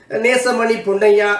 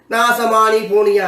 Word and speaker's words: நேசமணி பொன்னையா: ஆங்கிலத்திலே இந்த நெடில் இல்லை என்பதனால்தான் நேசமணி பொன்னையா என்று சொல்லுகின்ற பெயரை நாசமானி போனியா என்று சொல்லுவார்கள். நேசமணி பொன்னையா அழகான ஒரு பெயர். அந்த பெயரை இந்த இந்த நெடில் குறில் என்கின்ற வேறுபாடு தெரியாமல் புற இனத்தவள் உச்சரித்தால் நாசமானி போனியா என்றுதான்.